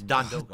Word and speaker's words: Don Doko: It's Don Doko. Dude, it's literally a word. Just learn it. It's three syllables.